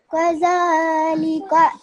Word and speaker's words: كَذَلِكَ: Make sure when you read it, you pronounce a gaf as opposed to a qa, okay? This is a gaf, it's a thin sound.